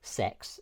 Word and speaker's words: CeX: I went to CEX which is for you know people abroad and does don't know CEX or sex as they pronounce it but I don't